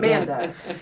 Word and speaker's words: Manda: That's I called in you your Amanda, but That's all Manda, right. Okay. That's all but right. it's Manda.